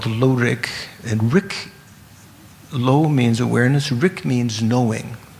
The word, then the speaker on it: blo: Usually Lorik means lo, the Tibetan word lo, has a silent B before it. So if you see it written out in transliteration, you might say it should be blow, B-L-O.